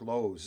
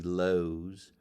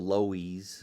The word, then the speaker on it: Lowe's: My father was a doorman at the Jersey City Lowe's. People used to call it the Lowies because of the way it's spelled.